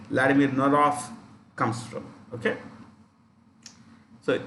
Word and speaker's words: Norov: That's where Vladimir Norov, pronounced with an F in the end, Vladimir Norov comes from.